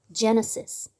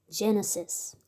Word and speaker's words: Genesis: Genesis. 창세기란 뜻이죠. 창세기. 따라해 보실까요? Genesis. Genesis. 이렇게 읽습니다. 강세가 여기 있어요.